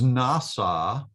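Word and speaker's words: נשא: And one of my Hebrew teachers says the way that he remembers this is the word nasa down here, nun samik ayin, sounds like the English word NASA.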